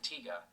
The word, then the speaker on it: Tiga: Instead, they opt to present Ultraman Tiga, the first traditional Yeah, Tiga, Japanese somebody Ultra corrected us on series in that.